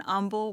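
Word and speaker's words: Humble: So, I took a job in Umble, where we don't pronounce the H over there.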